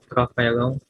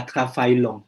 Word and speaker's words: travaillent: Tra- ENT, vous prononcez pas. Je travaille, tu travailles, il travaille, nous travaillons, il travaille, elle travaille. Donc, Clara et Matteo travaillent chez Total. Jadi nggak ada travaillant, belum 10 menit Monsieur bilang ya. Donc, ENT-nya nggak diucapkan ya.